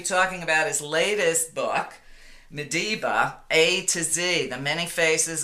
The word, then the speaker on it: Madiba: going to be talking about his latest book medba a toz the many faces of Nelson Mandela